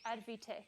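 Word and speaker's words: ADvTECH: say, did you just say Advitech? no, Active. It's in South Africa. Advotech. Because ADV Tech, we pronounce it Advitech, but there's no I.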